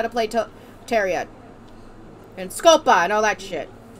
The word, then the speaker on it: Scopa: And Scopa, and all that shit. Wrong way. Chupa? Scopa. Chupa. Scopa. Chupa. Scopa. Are you saying it wrong, or am I saying it wrong? I'm saying it wrong on purpose.